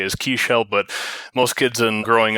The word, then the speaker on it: Kisiel: want to reiterate that basically it's a german last name which i think is supposed to be kissel and potentially could have been kissel stein back in the day but my dad's from poland so actually the right pronunciation from the polish way is actually keyshell but it's actually if